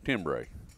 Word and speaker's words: Timbre: It was the timber call, timbre. Okay. It's actually pronounced timber, but whatever.